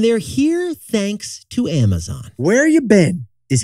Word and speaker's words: Where Ya Bin: Bin is spelled B-I-N. Right, not B-E-N. It's spelled B-I-N, Where You Been.